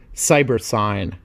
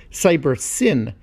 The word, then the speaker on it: Cybersyn: collectively the system was termed cyber sign or perhaps more accurately should be pronounced cyber sin as it stood for cybernetic synthesis in this case the